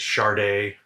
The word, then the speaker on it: Sade: go with shade apparently i'm saying it wrong it's sharday but that doesn't sound nearly